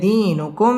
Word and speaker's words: دينكم: দিনুকুম মিম সাকিনে ইজহারে খাস গুন্না ছাড়া পড়তে হবে।